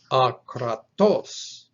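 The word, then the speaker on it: ἀκρατός: Consider just now that the emphasis shifts from the middle syllable to the last syllable. So whereas the one on the left was pronounced akratos, this one on the right is pronounced akratos, with the emphasis on the last syllable, akratos.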